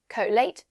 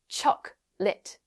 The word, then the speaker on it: chocolate: For example, comfortable is not comfor Americans say it like comb chocolate is not cholate just chocolate.